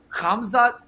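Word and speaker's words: Khamzat: to help you out so the pronunciation is kamza thank you i'm too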